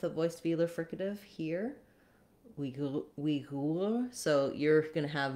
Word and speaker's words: Uyghur: I wouldn't necessarily recommend changing from Uyghur, the English pronunciation, simply because if you're speaking English, talking with other people in English about the Uyghurs, you're going to want to use the pronunciation that people understand.